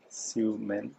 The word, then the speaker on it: Sui Meing: Xiumeng. Capital M-E-I-N-G. It's S-U-I. There's no sh.